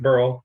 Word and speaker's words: Burrell: We pronounce it Burrell, like squirrel.